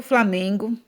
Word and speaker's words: Flamengo: Então, se você cantar a musiquinha aí, você vai perceber que a sílaba tônica ou seja, pronunciada com mais força, é o me, né?